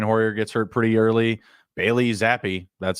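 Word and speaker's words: Bailey Zappe: Bailey Zappi, that's how they pronounced it.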